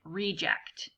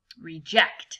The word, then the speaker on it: reject: pushing them away but it can also be a person like reject okay where you have the emphasis on the first syllable try to focus on the emphasis being on the second syllable reject like that using it